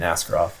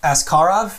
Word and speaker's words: Askarov: I said, isn't it Askarov? And he's like, yeah, but even when you say it like that, it sounds bad. So just say it the other way.